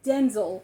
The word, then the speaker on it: Denzel: Blame You Denzel Denzel I said his name wrong for like 35 years so I'm trying to say it right and I just say it completely different it's Denzel Washington I have always said